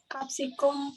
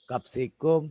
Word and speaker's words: Capsicum: Capsicum fluorescens. Betul ya. Jadi bacanya bukan capsicum. Salah. Ya, capsicum. Jadi bacanya kalau bahasa Latin ya. Ini A ya. Ca, ci, cu, ce, co. Berarti bacanya ka, siku, seko.